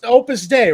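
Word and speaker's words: Opus Dei: It was opus day, right? And opus. Opus day, I think, is what it's called. Opus day. Oh, okay. They were prus. But it's pronounced like day.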